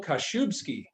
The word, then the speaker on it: Kaszubski: business with and today we're joined by michael kashubski the co-founder of home team mobile diagnostics i